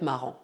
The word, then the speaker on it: marrant: Ça va être marrant. Como você acabou de notar como exemplo da palavra marrant, em francês, R duplo não modifica a pronúncia. Ou seja, pronunciamos R duplo da mesma maneira que R simples.